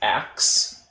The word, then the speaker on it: ask: vernacular English right that it is often pronounced ax as opposed to ask oh yeah um and